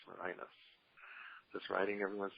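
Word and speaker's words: Mirinus: easy one I know is that spelled like marinas like mininos yes m i r i n u s ah okay great marinus marinus just writing everyone's names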